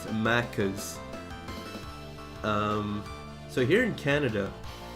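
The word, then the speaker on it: Maccas: I I pronounce it like uh the Australians Mackas.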